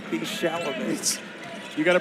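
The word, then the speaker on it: Chalamet: pronounce it what it's Adrien bro T be sham you got to pronounce it like Adam Sandler did sham I didn't actually watch Jackson Powell another please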